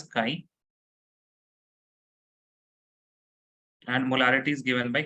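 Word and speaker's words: χ: looping letter but it is known as Chi you pronounce this as sky and molarity is given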